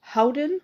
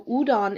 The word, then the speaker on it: Houdan: udon sometimes it's pronounced Howen or hudon but it is a French breed so udon is more correct because you kind of eliminate that H that H sound at the beginning of the word but it is spelled